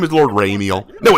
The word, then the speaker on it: Ramiel: and it's for ramiel oh come say it correctly you must say it like gabriel don't say it what's raining your twitch notification that's so weak raymeal his name is lord ramiel no it's lord do